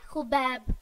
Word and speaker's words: Khabib: नाम है खुबैब। इस नाम को हम उर्दू में खुबैब भी कहते हैं और खबीब भी।